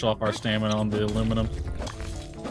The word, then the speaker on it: aluminum: All the Brits who like to say it's aluminium, not aluminum.